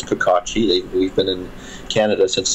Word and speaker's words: Kokocki: It should be Kokocki, or Kokocki is the Polish pronunciation. So my family says Kokocki. We've been in Canada since the 1900s, early 1900s. So that was interesting. So Kokocki would be the proper pronunciation of my name.